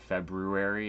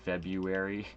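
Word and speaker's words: Febuary: But it's the band February out of Las Vegas, Nevada, and it is spelled without the R, so it's not February, it's February.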